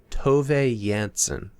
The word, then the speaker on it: Tove Jansson: on the internet that you pronounce the author's name as to yansen uh this book was